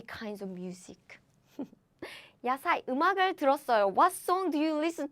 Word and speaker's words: 들었어요: So it's not 듣었어요, but it's 들었어요. 들었어요. That's the right form.